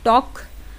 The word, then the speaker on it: talk: तो सेकेंड है आपका के पहले एल आ जाए तो एल साइलेंट हो जाता है।